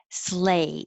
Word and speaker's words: sleigh: Just sounds like sleigh, A.